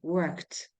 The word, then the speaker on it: worked: saved travel again traveled worked but uh in the word we pronounce the last uh sound like T worked studied yes studed just